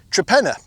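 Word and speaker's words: Torpenhow: And there's a village not far away in West Cumbria which is called Trapena, but actually it's spelled Torpenhau.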